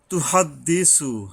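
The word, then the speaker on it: تُحَدِّثُ: তুহাদ্দিসু, হা লম্বা হয়, গলা কিছুটা শব্দ হবে এবং উচ্চারণে সাবধান হতে হবে।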